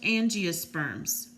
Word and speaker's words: angiosperms: to remember this so it's pronounced angiosperms ng is a girl's name so ng loves flowers there you go there's